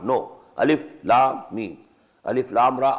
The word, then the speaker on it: Alif Lam Mim: These are pronounced separately and so they are the broken into pieces. Not pronounced as Alif Lam Mim Alam, no. Alif Lam Mim.